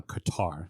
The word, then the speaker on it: Qatar: cutter has uh the Qatar sorry them both either way you want to pronounce it put the word in front of it and you've pronounced it correctly um but obviously uh